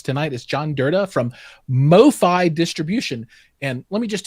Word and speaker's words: MoFi: Joining us tonight is John Durda from MoFi Distribution. And let me just tell you, I've wanted to call you guys Mofo Distribution so many times. Some of our guys have that title. It is MoFi Distribution because I is that just short for